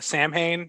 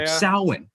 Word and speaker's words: Samhain: people to the ancients well that's really samhain you mean no salwin okay fine fine call it what you want go ahead samhain is that's another way of pronouncing let's focus on the